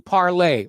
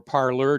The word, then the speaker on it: Parler: here now this brings us to parley or parler depending upon how you wanted to pronounce it uh conservatives flocked to